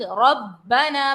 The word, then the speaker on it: ربنا: ربنا، با کو جماؤں سے ادا کریں گے، ربنا، الف مدہ ہے، کھینچیں گے، ربنا ولک الحمد.